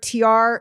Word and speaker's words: Tiare: So one word, Tiare Smith Art. And it's TIARE. Yes. .art. Right. It's pronounced, like the two letters, but TIARE.